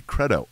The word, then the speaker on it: credo: I like the long E on it better, and I also like the band Creed, so it works out. So it should be credo ut intelligam, Credo House. But I don't pronounce it that.